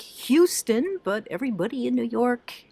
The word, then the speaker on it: Houston: It's called Houston, spelled like Houston, but everybody in New York, you learn early on that you say Houston, not Houston.